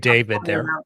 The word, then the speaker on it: D4VD: known professionally as Dave D4 VD, which is just pronounced David.